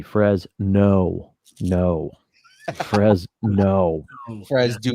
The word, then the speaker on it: Fresno: You have to emphasize or put emphasis on the Frez. No.